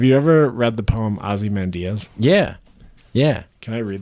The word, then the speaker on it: Ozymandias: Have you ever read the poem Ozymandias? Yeah. Yeah. Can I read that poem? Yeah, of course, yeah. Yeah. How do you feel pronounced about when it people as stop? Ozymandias.